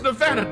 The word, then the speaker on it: Nevada: It's Nevada, darn it! That A gets a lot of people out here.